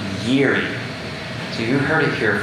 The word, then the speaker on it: Jiri: So I would have said Jiri when I first saw that, but as I was reading through the documents, apparently it's pronounced Yeri.